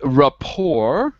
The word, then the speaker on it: rapport: principles as well as rapport with Rapport Rapport there's no T there's no T in Rapport Rapport because it's French so when we take